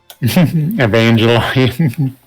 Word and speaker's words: Evangelion: Evangelion. Yeah, Evan Gel Ion. Never seen any of those? Nope. And for the record, people, I know it's I know now it's Evangelion.